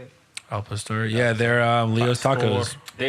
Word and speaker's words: al pastor: Actually, it's like one of the best El Pastores you can get. Is that how you say it? Al Pastor.